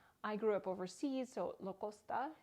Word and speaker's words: Lacoste: often referred to as Lacoste. Either pronunciation is correct. I grew up overseas, so Lacoste is how I always pronounced it growing up, and that is how the French pronounce it.